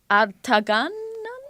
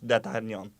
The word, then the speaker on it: d'Artagnan: Your full title, Comte de Artagan? Is that how you pronounce it? I will help you. Yes. Charles de Batz de Castelmore, Comte d'Artagnan.